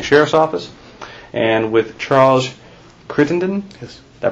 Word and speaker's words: Crittenden: the Orange County Sheriff's Office and with Charles Crittendon yes did I pronounce that right right okay Charles would you